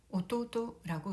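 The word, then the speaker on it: 弟: 오토토라고 읽습니다. 토우는 오토상과 마찬가지로 장음이 되고 있고요. 우까지 토를 끌어주면 되겠습니다.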